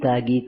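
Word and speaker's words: ত্যাগী: As a result of that, you find that it produces another word, tagi, tagi, tagi. In Bengali language, tya is pronounced half, tagi.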